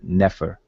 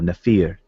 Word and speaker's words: nefer: just know from the word nefer or nefir. People pronounce it differently.